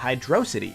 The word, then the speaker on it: Hydrocity: from Angel Island to Hydrocity, and it's amazing. And yes, I just pronounced it Hydrocity. Not Hydrocity, not Hydro City, I'm gonna be different.